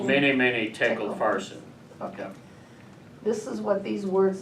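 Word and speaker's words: Mene Mene Tekel Upharsin: Usually it's pronounced mene mene tekel farsin.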